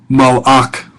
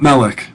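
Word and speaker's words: מלאך: Malach. Malach. Not melech. Malach. A little bit different.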